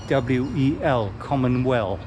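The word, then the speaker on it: Komenwel: They don't spell Commonwealth as in Commonwealth, but it's in K-O-M-E-N-W-E-L, Commonwealth. That's how they do it in Malay. It's spelled in Malay, that is.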